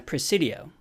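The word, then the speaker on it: presidio: Our scene takes place in a precidio and precidia rhymes with coxidio, so that's a good way to remember it.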